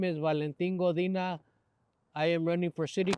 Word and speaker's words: Valentin Godina: Swanson I'm in here with make sure I pronounce this right Valentine godina I get right yes so you have the folks a moment to tell a little bit who you are hello my name is Valentin godina I am running for City Council of Victorville